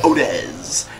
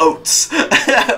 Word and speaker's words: Otis: Okay, that's how you pronounce his name, Otis. Not Oats.